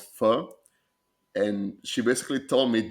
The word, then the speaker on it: pho: how to properly pronounce pho, and she basically told me just say the English F word and forget to say the K at the end.